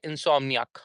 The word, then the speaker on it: insomniac: If we say ak that would be little wrong and we say ak why ark? Because it is it is not the the long vowel. It's a short vowel. So that's why we will say insomniac.